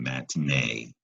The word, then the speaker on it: matinee: just a moment but it's a three syllable word with an accent one the ending matinee that's the stressed syllable man T another three